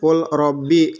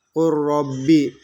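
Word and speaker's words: قل رب: lamro dan lam ya Jadi ini sekarang di sini full Robby tapi dibacanya harus kuroobi ini juga full lahum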